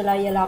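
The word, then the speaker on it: לילה: Allora, come abbiamo detto, in ebraico si dice la Yelah, più o meno la pronuncia è questa.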